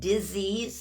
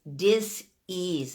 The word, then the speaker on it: disease: it's not necessary and disease there is no such thing it's dis ease it's not disease there's no Z's in there no Zeds in there neither so we mispronounce things